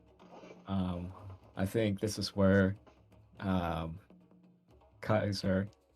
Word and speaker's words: Caesar: I think this is where Kaiser, the weird pronunciation of Caesar. The accurate pronunciation.